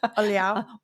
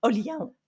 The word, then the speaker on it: Olhão: And I've not pronounced it correctly. Olhão. Olhão.